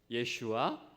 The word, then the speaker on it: 예슈아: 예슈아 라파. 예슈아는 뭐냐 하면 예수스의 히브리, 원래 히브리어 유대 사람들이 쓰던 그 발음 그대로예요.